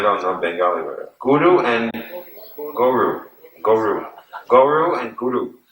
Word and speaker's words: guru: Now there's two words, guru and guru. Guru and goro, or goro. How do you say cow in Hindi? But there's another word. Huh? Huh? Anyway, it's close to guru. Not garo. Means? It means in Bengali, a cow.